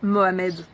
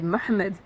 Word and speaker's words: Mohamed: Parce que j'ai eu beaucoup d'enfants qui me disaient par exemple, moi je m'appelle Mohamed. Mohamed, ben non, c'est Mohamed.